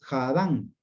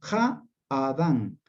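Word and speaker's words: הָאָדָם: No es Jadán, Jadán, no, Ja-Adán, Ja-Adán.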